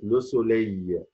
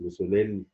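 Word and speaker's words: le soleil: زي ما اقول كلمه لو سولي اهي، مش لو سوليل، لا لو سولي.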